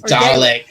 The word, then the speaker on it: Dalek: It's Dalek.